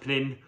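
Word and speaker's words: Pnin: to naov this is I think it's pronounced pin presumably uh Professor Timothy panin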